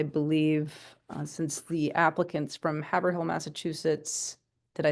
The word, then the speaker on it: Haverhill: Julian, it's Haverhill. What? Haverhill. It's the- Haverhill. I'll Haverhill. probably forget and butcher it again. Okay. It's like Amherst, the H is silent.